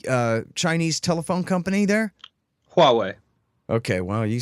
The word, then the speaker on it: Huawei: say it the uh Chinese Telephone Company there Huawei okay well you say it more Huawei um so America's been waging an economic war